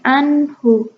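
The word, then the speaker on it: عنه: Ada di ayat 11 itu wa ma yughni anhu. Anhu itu ada nun mati bertemu dengan ha besar ya. Wa ma yughni anhu maluhu. Jadi dibacanya nunnya itu jelas dan enggak dipanjangkan. Bukan anhu tapi anhu maluhu anhu.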